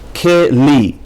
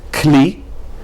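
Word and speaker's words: כלי: Keli. Now properly this should not be pronounced kli, but rather keli.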